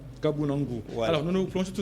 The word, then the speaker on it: Kabunangu: Si vous voulez bien prononcer comme vous m'aviez interpellé tout à l'heure, c'est Kabunangu. Kabunangu.